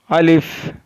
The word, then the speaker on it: ا: अलिफ is pronounced from the empty part of the mouth.